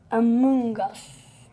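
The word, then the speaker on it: Amoonguss: Amoongus. Like fungus.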